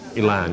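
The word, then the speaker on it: Élan: The single, Elan, is that the right pronunciation? Elan, yeah.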